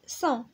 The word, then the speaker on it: sent: هنا عندنا S A N S كتنطق صون، هنا S A N G كتنطق صون، وهنا C E N T كتنطق صون، وهنا S E N S صون، وهنا S E N T صون.